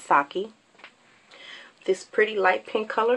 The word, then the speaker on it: Sake: Next, we're going to go with this pretty champagne color here, which is called Sake. That's Saki.